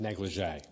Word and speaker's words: NLGJA: And I think it was Roy who said that we should really pronounce it negligé.